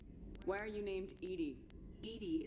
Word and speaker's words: EDI: ED is the phonetic pronunciation of EDI.